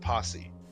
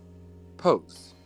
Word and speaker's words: Pose: The next show, Pose, or is it Posse? Pose. Pose. Okay.